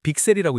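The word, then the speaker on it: VCSEL: 루멘텀이 만드는 핵심 부품은 빅셀이에요. 빅셀이라고 읽어요.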